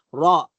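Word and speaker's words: راء: Pero ngayon, alamin natin ang bigkas niyan ay binibigkas rin po yan ng makapal. Raw, na para hindi raw, makapal. No, hindi ra. Raw.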